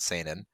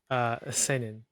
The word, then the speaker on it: Seinen: No, it is an EN.